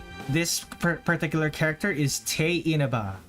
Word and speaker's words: Tewi Inaba: This particular character is T Inaba. It is not Ti Inaba even though it's spelled that way. It is T Inaba.